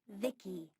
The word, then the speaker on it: Vici: transistors by the way i'm vici pronounced vicky my creator was vivi